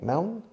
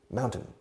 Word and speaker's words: mountain: Mao, como el dictador chino, o como la cerveza española, cerveza Mao. Mountain, añades un N, mountain, y luego el número 10, 10, mountain.